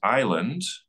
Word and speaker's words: island: is surrounded by water is Island and that spelling is a Lie the old English spelling